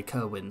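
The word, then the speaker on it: Cerwyn: Ally of the Starks when I read the books I always pronounced it in my head as sirn but in the show they they say Kerwin so I'm I'm going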